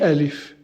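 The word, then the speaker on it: ألف: début milieu et fin de tour donc on a l if he leaf et leaf et alif donc répétez après moi et l'idéal ici pour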